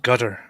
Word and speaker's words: Qatar: H noticing a pattern what about we just call it Gutter Gutter gut gut like like the gutter like get your mind the that's actually one of the pronunciations look check check it